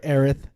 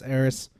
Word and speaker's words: Eris: sorry about the pronunciation I refuse to color Erath it's Eris this like Kate isn't itis